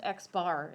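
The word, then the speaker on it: x̄: down means a mean and it is literally pronounced x bar with an x with a line over it means called x bar which is so stupid but that's what it's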